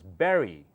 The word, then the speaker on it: bury: is very simple try to say it it's pronounced as Berry b Ur r y is pronounced exactly the